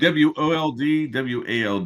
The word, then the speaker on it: Woldwald: Oh, it's Woodwald. I need someone to spell that. It's not a word. WOLD WALD.